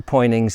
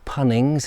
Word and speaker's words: Poynings: uh before we go into pointings itself or punnings as i think the people pronounce it and somebody can correct me there's a path that